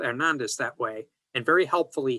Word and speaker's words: Hernandez: the marriage, de Andrés Hernandez. Now notice, the H is silent in Spanish, so he just left it off this surname and wrote Hernandez.